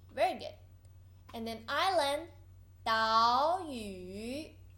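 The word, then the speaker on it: 岛屿: And then island 岛屿 there's two third tone you should pronounce the first one into second tone 岛屿 good.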